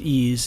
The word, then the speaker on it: EES: EES which is pronounced ease is an acronym for Engineering Equation Solver in the last few videos we've talked about using property functions in ease the values of specific